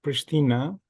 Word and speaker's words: Pristina: The capital of Kosovo is pronounced Pristina, and Kosovo is a new country which declared the independence from Serbia in 2008.